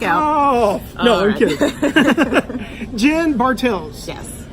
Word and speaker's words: Jen Bartels: Anyway, ladies and gentlemen, Jim Bartels. Did I say it right? It sounded like you said Jim, but well, it's not Jim? No, it's not. Back out. Oh, no, I'm kidding. Jen Bartels.